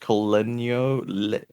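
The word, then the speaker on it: col legno: I think it's pronounced colenio, something like that, which means with the wood.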